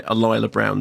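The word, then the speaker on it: Alyla Browne: first meet her as a child played by alila Brown thank you for asking about the pronunciation because I too would have uh you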